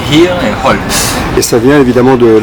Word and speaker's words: Hierholz: Tu prononces le H de Hirholz? Bien sûr, on dit Hier et Holz.